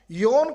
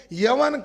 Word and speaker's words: योन: और जिसमें कंबोज का जो जिक्र आया, योन का जो जिक्र आया, ब्राह्मण इतिहासकार योन शब्द का जानबूझकर उच्चारण यवन करते हैं। यवन करने से कंफ्यूजन हो जाता है, फिर लोगों को